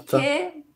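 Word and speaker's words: sikhye: Chiqué, mais. Oui, non, c'est coréen. C'est coréen. Oui, voilà. On va écrire comme ça. Oui, ça se prononce comme ça.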